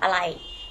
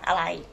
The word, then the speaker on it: อะไร: Can you pronounce after me? Sang, okay, together, sang arai. This one you might ask your friends in the restaurant or the waiter, waitress might ask you, okay? Sang arai.